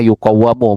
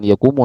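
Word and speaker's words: يُقَوَّمُ: uang gitu takwim namanya nanti masdarnya dibacanya yuqawamu bukan yakumu.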